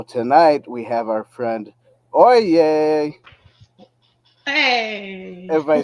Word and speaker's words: Olya: So tonight we have our friend Olya. Hey, If I said it right. it's Olya.